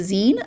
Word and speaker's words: zine: And then there's a older and younger I I had a a 20some year old pronounce it as Z to me. And I told, "Oh, it's Zen. It's short for magazine."